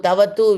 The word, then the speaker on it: ktavatu: Yeah, Iktavatu. Tavatu, we call it. Ik is there, but ik is silent.